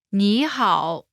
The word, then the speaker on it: 你好: When there are two third tones in a row, the first one changes to the second tone.